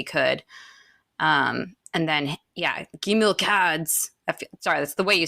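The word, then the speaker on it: Gimilkhâd: much as he could um and then yeah gim cads sorry that's the way you say his name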